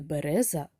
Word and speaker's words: береза: прямокутничок на три склади який наголошений склад в цьому слові перший береза другий береза чи третій береза правильно в слові береза другий склад наголошений дітки до слова річка